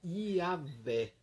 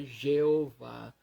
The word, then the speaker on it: Iavé: E a pronúncia que chega mais próxima ao original hebraico do nome de Deus é Iavé, não é Jeová.